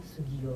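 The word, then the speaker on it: Soegija: Tulisannya Soe Gija, tapi karena dia ejaan lama Dia cerita tentang uskup pribumi pertama yang ada di Indonesia. Jadi bacanya Sugio gitu.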